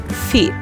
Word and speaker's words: feet: Por exemplo, quando se tem dois es, você vai pronunciar com som de i, não com som de e. Por exemplo, nós temos a palavra feet, feet, que significa pés.